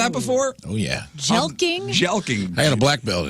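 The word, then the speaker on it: jelqing: is Cally known as have you heard of jelking yeah you've heard of that before oh yeah jeling jelking I got a black belt in it j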